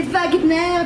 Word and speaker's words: Wagner: Vous écoutez Wagner, bien sûr, parce qu'il était allemand et qu'en allemand, le W se prononce V.